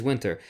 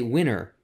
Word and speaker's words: winter: tell me winter okay you say it's winter I've heard so many Americans say winner oh yeah it depends